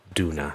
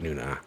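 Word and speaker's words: Doona: Her name is Ba Duna, not Nuna, but close enough.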